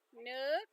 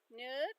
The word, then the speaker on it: nước: Nook, because it's got the accent going up. Nook.